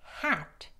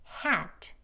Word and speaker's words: hat: 그렇지만 t가 그 단어의 맨 끝에서 소리로 끝날 때는 여기 밑에 트 역시 트긴 하지만 소리가 약해져요. hat, hat.